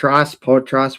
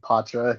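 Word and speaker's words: Poitras: Potross. What is it? Yeah. Potra is how you say it.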